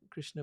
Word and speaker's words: Krishna: they're available get the krishna book it's pronounced it's spelled krsna you'll find it on